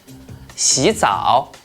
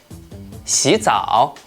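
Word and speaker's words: 洗澡: When 2 third tones are combined together, the first one will change into the second tone, which is a rising tone. For example, 洗澡，洗澡，老虎，老虎，勇敢，勇敢.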